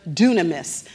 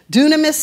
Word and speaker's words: dunamis: the word power, it's using the Greek word dunamis. Now, for those of you who are taking notes, dunamis is spelled D-U-N-A-M-I-S.